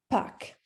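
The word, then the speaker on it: Pâques: is Easter so yeah you're gonna pronounce it pack all right back all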